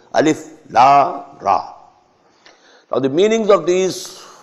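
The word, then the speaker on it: الر: Alif lam ra alar, no. Alif la ra.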